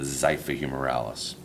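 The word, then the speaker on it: xiphihumeralis: looking at your sheet that is the muscle that starts with the X so the same way you would pronounce the xylophone this is the zephahumeralis so again those four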